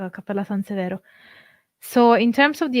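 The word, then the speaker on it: Cappella Sansevero: It's spelled Severo. But yeah, it's Cappella San Severo.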